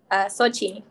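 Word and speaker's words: Xochitl: So it's Sochi, but not everybody knows how to say it or pronounce it or spell it.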